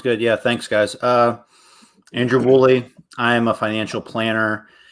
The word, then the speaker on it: Woolley: Pronounced exactly how it's spelled. Woolley. Woolley.